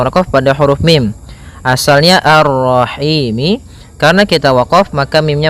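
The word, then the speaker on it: الرحيم: Maka kita baca ini kita boleh memanjangkan dua harakat, empat harakat ataupun enam harakat. Contoh arrahim itu dua harakat. Kalau ee apa namanya? Kalau empat harakat arrahim ya.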